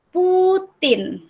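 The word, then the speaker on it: Путин: Nah, ini kan ada P, ada U, ada T, ada I, ada N. Bacanya Putin.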